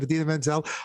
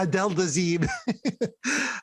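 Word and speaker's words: Idina Menzel: How did John Travolta pronounce her name? Adina Menzel. Her Adele voice. Dazeem. Yeah, Adele Dazeem.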